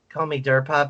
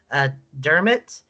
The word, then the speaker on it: Dermot: You can call me Durpot, but it's actually pronounced Dermot.